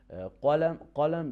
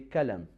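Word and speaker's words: قلم: Instead of saying qalam, they say kalam, or instead of saying qalb, they say kalb.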